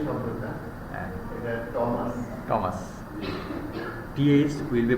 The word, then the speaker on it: Thomas: নামের উচ্চারণ প্রথমত হচ্ছে প্রপার নাউনের বানান আপনি যেভাবে খুশি করতে পারেন, আপনি থমাস বলতে পারেন, টমাস বলতে পারেন, ঠিক আছে, বাট the common pattern TH থাকলে এর উচ্চারণটা হয় হলো টমাস।